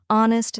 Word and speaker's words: honest: the K is Sil honest the H is silent and Castle the t